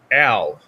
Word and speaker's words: Al: It's Al. Oh, did I say it wrong? It's Al. A-L. Like Al from like Fullmetal Alchemist Brotherhood. Edward's brother. It's Al. Not L. Al.